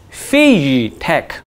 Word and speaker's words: FeiyuTech: get this thing right the gimbal manufacturers name is pronounced as phase tech the ak-47 droid has